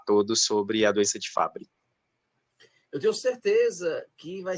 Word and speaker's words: Fabry: desse diagnóstico tranquilo eh não tem problema chamar de Fabri ou FAB né Eh se a gente for usar o termo original eh acaba pronunciando como Fabri mesmo mas aqui no Brasil se usar fabre também não não vai nos trazer nenhuma nenhuma condenação nenhum problema então como ficar melhor